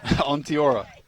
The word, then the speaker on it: Onteora: number five sold them down the river out on Theora here is the triple substitution there are of